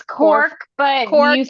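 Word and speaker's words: Cobh: It's Corv.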